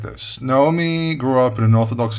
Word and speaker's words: Naomi: Not Naomi, not Naomi, it's Naomi. That's how it's properly pronounced.